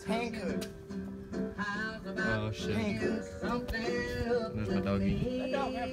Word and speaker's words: Hankook: The Hankook. Isn't that how you pronounce it? What? Hankook? It's Hankook.